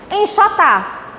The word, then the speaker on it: enxotar: Tia, eu não sabia separar sílabas. Está aprendendo comigo agora, ô. Aluno da tia Milka. Continuemos. Aqui. Enxotar.